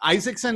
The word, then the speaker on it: Isaksen: so uh this is stina isaacson is that how you pronounce your last name that is how you pronounce it all right got it